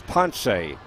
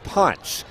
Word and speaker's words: Ponce: I have been pronouncing Pedro's last name as Ponce, but it's Ponce.